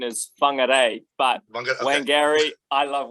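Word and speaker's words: Whangārei: So, born and raised in, I hope I pronounced this right, Whangarei, New Zealand? I don't know, is that right? I mean, that is a valiant effort, and the traditional pronunciation is Whangarei, but okay.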